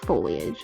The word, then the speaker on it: foliage: I say foliage. I say it like how it's spelled. It's reindeer moss, technically.